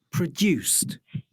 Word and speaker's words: produced: Ascoltate adesso le due con la T. Tie. T. Based. Produced. Sottile, eh? Sì, Non è così chiara.